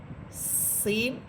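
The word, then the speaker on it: س: এরপরে হরফ হচ্ছে সিন। সিন এটাও চিকুন হরফ এবং এটাও ঝিঝি পোকার মতো আওয়াজ হবে।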